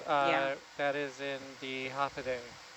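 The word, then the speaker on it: Håfa adai: It is actually half a day. H A F A D AI. And that is how you say hello in Chammoro from Guam and the Northern Marianas.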